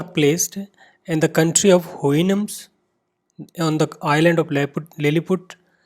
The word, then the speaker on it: Houyhnhnms: The pronunciation is Houyhnhnms.